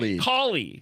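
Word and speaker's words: Kaohly: Cool It's Cooley, right? Is that how you say it? Cooley. Like cauliflower without the flower. Or you could say cow like cow like moo.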